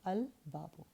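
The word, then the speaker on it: الباب: In moon letter, the lam of lam at-ta'rif is pronounced, so al-babu.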